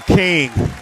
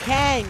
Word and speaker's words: Kang: Ladies and gentlemen, the king himself, T.I. Kang, the Kang, K-A, Sway, Kang. Did I say it wrong, HB? Yeah, you just said the king. Like, you got to put a Kang, K-A-N-G, the Kang, Sway.